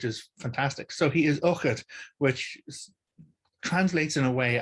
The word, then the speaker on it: Eochaid: In fact, the Firbolg king in the first Battle of Moytura is also called Uchid, and this is spelled Eochaid.